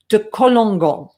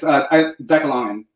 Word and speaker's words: Decalongan: I would like to introduce Josh de Colongon. Is that right? Did I pronounce that right? I never say your last name. It's a hard name. It's Decalongan.